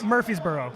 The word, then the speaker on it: Murfreesboro: Road in in Nashville in Murfreesboro yeah yeah it's spelled Murfreesboro Murphy's Murphysboro look for these bro yeah there you go